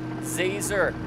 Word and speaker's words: Zazer: town itself side note zazer zazer like laser okay okay so don't